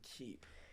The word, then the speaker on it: Keep: old middle name, but it was spelled Cepe, and we just decided to spell it Keep instead. But it was always pronounced Keep."